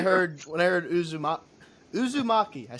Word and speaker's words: Uzumaki: like when I heard when I heard Uzu Uzumaki I said it right okay when I heard